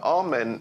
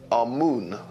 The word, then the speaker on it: Amun: Now, Amen is the pronunciation that the Hebrews give it, and some scholars agree to use that pronunciation. Amun is the pronunciation given to it by one of the old European scholars, Plutarch. In the language of Kemet, the word for hidden is Imen, or Amun is the